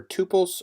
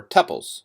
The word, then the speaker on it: tuples: going to go over to pulse or tuples you will hear it pronounced both ways a quick definition tuples